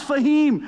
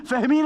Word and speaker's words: फहमीन: Please welcome not फहीम, फहमीन Ansari.